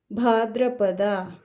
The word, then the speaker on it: ಭಾದ್ರಪದ: Next, August to September is Bhadrapada. Bhadra, d-r-a. The is adding to a swara and ra is the ottakshara. D-r-a, d plus r plus a.